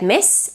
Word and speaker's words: Miss: And a word like miss, as in Miss Eldridge, is pronounced with an S as well.